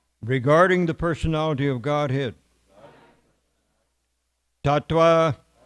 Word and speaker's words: Tattva: Tattva. Or we can pronounce it as a V, I suppose. Tattva.